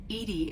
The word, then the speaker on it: EDI: are you named Edie Edie is the phonetic pronunciation of EDI that is an acronym for enhanced defense intelligence are you getting along with Joker mr.